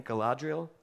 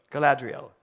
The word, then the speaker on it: Galadriel: Galadriel. Galadriel.